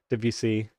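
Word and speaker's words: Debussy: Is that roughly how you pronounce that or is it um the the sounds were right but you did put emphasis on on certain syllable which we wouldn't do.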